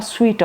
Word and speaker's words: suite: अब ये स्वीट of rooms पढ़ना SUITE बनता तो सूट है, लेकिन इसकी जो प्रॉपर प्रोनाउंसिएशन है वो है अ स्वीट ऑफ रूम्स।